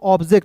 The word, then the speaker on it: object: देखिए ओ को ओ नहीं पढ़ते, जब हम लोग स्पेलिंग रूल्स पढ़ते हैं ना जी, बुक रीडिंग करते हैं, तो वहां पे ओ का उच्चारण ओ के रूप में हो जाता है। ठीक ना, तो यहाँ पे OBJECT को पढ़ेंगे दोस्तों ऑब्जेक्ट।